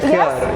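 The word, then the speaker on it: خيار: Khiyar. Thank God. Why? How do people say it? Khiyar, khiyar. I say khiyar. I feel like the fancier people say khiyar. Yeah, khiyar.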